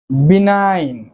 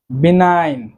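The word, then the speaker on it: benign: সো আজকে আমরা যতগুলো ওয়ার্ড শিখব সবগুলো ওয়ার্ডেই কিন্তু জি লেটারটি সাইলেন্ট থাকবে। আজকে মূলত আমরা সাইলেন্ট জি এর ব্যবহারগুলো দেখে নেব। বিনাইন। বিনাইন সৌম্য বা সদাই, অর্থাৎ নট হার্মফুল ক্ষতিকর নয় এমন, সদয়। বিনাইন উচ্চারণটি হবে বিনাইন সৌম্য বা সদয়।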